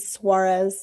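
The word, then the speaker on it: Soares: Elder uh Ulysus Sorz. Is that how you pronounce his first name? I have a hard time. Ulyses Suarez.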